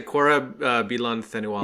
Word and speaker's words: Korab Bilan Thenualis: Can you pronounce Korab's full name for us? Okay. Korab Bilan Thenuilas? I always say Korab Bilan Thenualis. Yeah, that works. That's perfect.